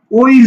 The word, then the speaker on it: ওই: ওই অটা ও উচ্চারণ হয় এখানে, ও রস ওই ওই ওই ও, ঠিক আছে, ও উচ্চারণ হয়, অ উচ্চারণ হয় না, অই বলি না আমরা, কিন্তু অই বলি না, অই ছেলে অই, আমরা কিন্তু অই বলি না, আমরা বলি কি ওই ছেলে বা ওই মেয়ে বা ওই দেখা যায় তাল গাছ, ঠিক আছে, তাহলে তুমি ও উচ্চারণ করছো, নট অ।